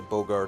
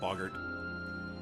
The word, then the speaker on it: Boggart: Probably just a Bogart inside anyway. Right. Boggart.